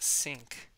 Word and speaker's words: sinc: This is a sinc function, pronounced sinc.